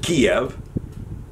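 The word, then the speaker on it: Kyiv: will not blame him because Russians pronounce it Kiev the ukrainians pronounce it keep and yes I'm a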